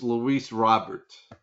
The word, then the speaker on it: Luis Robert: Last week or two weeks ago, I didn't know how to pronounce a teach a teacher's name, a player's name. It's Luis Robert is his name from the White Socks that I was talking about.